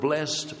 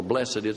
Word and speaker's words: blessed: Blessed, and by the way, the word blessed or blessed, we pronounce it two different ways, simply means blessed by God.